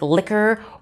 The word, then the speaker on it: liquor: you like qatar or the you is silent like liquor or unique they're gonna have a difficult